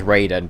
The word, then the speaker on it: Raiden: Raiden God of Thunder or Ryden or however you want to pronounce him I personally pronounce him as Raiden because they pronounce it in game as Raiden so I figured there's